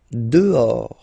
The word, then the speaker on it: dehors: Dehors. Okay, so remember final S not pronounced, and then this H in French doesn't exist phonetically, so you don't pronounce it.